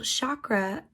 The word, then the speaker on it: chakra: First, what does the word chakra mean? Well, chakra or chakra, to pronounce it correctly and less white and American, means wheel.